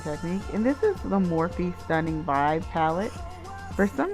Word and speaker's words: Morphe: and this is the morphe stunning vibe palette for some reason I couldn't spell its morphe actually it's mor PhD now this is the